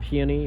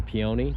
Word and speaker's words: peony: leaves there that's a a peony or peion depending on how you pronounce it um that has naturally